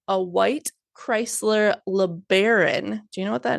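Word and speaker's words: LeBaron: Chrysler learon is that how you say it learon yeah that's how you say it okay pulled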